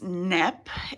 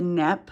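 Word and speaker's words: Kneipp: all the time these I think it's pronounced NEP it's a German company but um I have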